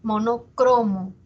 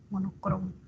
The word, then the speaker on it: monocromo: Nos dice monocromo, grave, monocromo, ¿ya?